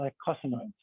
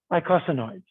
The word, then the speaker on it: eicosanoids: fatty acid derivatives called eicosanoids. How do you pronounce it again? Eicosanoids, or eicosanoids, as some say.